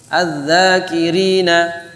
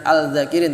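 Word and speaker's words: الذاكرين: Az-zakirina. Ya, az-zakirin bukan al-zakirin tapi az-zakirin.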